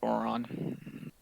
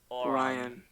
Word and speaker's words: Orion: we please play the Dawn of Oron? Oron. Oron? How to say it? Orion.